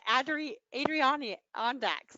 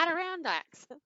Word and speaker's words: Adirondacks: It's just like the chair, the Adirondacks, because I kept trying to call it the Adirondacks, and that's not how you say it. And my husband would look at me and go, like the chair, and I'm like, oh yeah, Adirondacks.